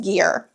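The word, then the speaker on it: Gir: It's from the brand, I believe they're pronounced Gear. G-I-R.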